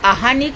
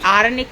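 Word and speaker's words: आह्निक: Krishna wrong pronunciation है और अहानिक होता है, आरनिक नहीं होता। अहन मतलब दिन, अहनी होता है दिन, पूर्वान, मध्यान, अपराह्न। तो हमने आरनिक किया वो गलत है। आहानिक, आ के बाद हा हलवाई हा वाला, आहानिक।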